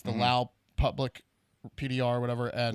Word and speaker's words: Lao: people Elio it's the Lao public PDR or whatever and wow they all pronounce it Lao and the English people pronounce it with nest and they think they're